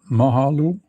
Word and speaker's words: Mahalo: That Um Mike says Ma Mahalo. Did I pronounce that correctly?